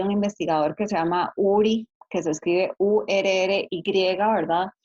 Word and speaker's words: Urry: Por ejemplo, hay un investigador que se llama URI, que se escribe URRY, ¿verdad?